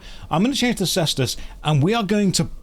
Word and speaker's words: cestus: to change to the I think you pronounce it cestus the leather fist things the old Roman weapon some people say casus some people say cestus so I'm going to change the cestus and we are going